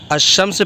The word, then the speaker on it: الشمس: میں کیا فرق ہے۔ الشمس پڑھیں گے تو الف لام خاموش ہوگا اور الف شین یعنی شمس پڑھا جاتا ہے، جبکہ القمر کہیں گے